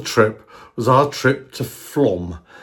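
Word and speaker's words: Flåm: Well, the pinnacle, the highlight of the trip was our trip to Flom. It's spelled Flan, but it's pronounced Flom.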